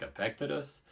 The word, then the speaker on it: Epictetus: Epictetus is another one of my favorites. Oh, start there with pronunciation. Ancient philosopher, pronunciation probably closer to something like Epictetus, but we'll just say Epictetus, that's what people say.